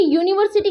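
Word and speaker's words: university: अब देखिए यूनिवर्सिटी क्या है? इसका जो फर्स्ट लेटर क्या है? वोवेल है। फर्स्ट लेटर क्या है? वोवेल है। लेकिन इसका साउंड क्या है? य यू।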